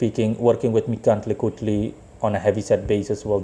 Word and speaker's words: Mictlantecuhtli: It's hilarious because it's a challenge to pronounce it, but I can still pronounce it. Mictlantecuhtli.